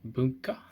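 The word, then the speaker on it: 文化: together mean culture and the pronunciation is like bunker they mean culture and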